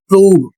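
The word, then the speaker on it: prove: इसका उच्चारण होगा मूव और इसका उच्चारण होगा प्रूव।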